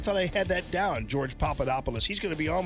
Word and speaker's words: Papadopoulos: He told me I was mispronouncing it. George Papadopoulos. I didn't recall. I thought I had that down. George Papadopoulos.